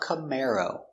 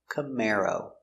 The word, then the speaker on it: Camaro: khmer oh camaro camaro stress on the second syllable camaro camaro chevy makes